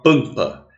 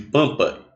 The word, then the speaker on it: pampa: Porque esse M ele não é pronunciado, é como se fosse um tio. Então, na realidade, pampa tem 5 letras, mas só tem 4 fonemas, que é como se fosse A com tio.